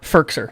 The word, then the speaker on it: Firkser: It's Fisker. I think we've all said it different now. It's first. It's spelled Firk, yeah, so I thought that was Firk. Oh, okay. Firkser. Okay, so that's on me.